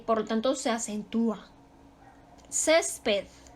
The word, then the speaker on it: césped: lo tanto se acentúa césped también se acentúa su sílaba tónica está en la penúltima terminó en una consonante